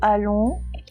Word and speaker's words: allons: Faites attention à la fin de allons. C'est le son on, mais il y a une lettre muette.